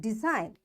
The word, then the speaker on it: design: because the rule is when you find n after G you will not say this G and directly you pronounce